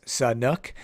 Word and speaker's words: Sanhok: how you pronounce San honk and it's actually pronounced Sun nook so many trying to pronounce that correctly throughout